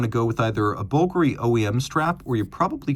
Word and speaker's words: Bulgari: And yes, it is pronounced Bulgari.